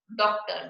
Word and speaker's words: डॉक्टर: डॉक्टर, डॉक्टर के ऊपर हम चंद्र लगा देते हैं, इसका उच्चारण हम ओ के रूप में करते हैं।